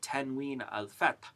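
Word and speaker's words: tanwin: we mark it with what we call ten Al which is pronounced n if we were going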